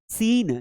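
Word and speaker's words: scene: ध्यान रखना है कि यहाँ पे सी को नहीं पढ़ना है। सीन, सीन है एक लुक होता है, तो यहाँ पर भी सीन हमें सिंपल पढ़ना है, सी साइलेंट है।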